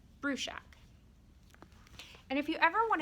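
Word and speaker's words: Bruchac: to pronounce them joseph bruschak said that um in slovakia where his father's family's from it would be pronounced differently but here because they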